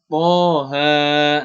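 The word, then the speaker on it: طه: Kemudian Toha.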